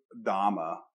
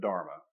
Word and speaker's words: dharma: have r's in it when you look at buddhist pronunciation of these terms they often take out the r's so they'll say dhamma instead of dharma right so it's like